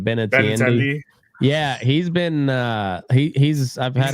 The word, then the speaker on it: Benintendi: Benintendi.